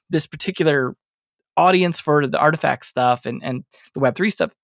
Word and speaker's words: RTFKT: Yeah, I thought you were talking about Dolce and Gabbana at first, but no, it's Artifact. Yeah, Artifact.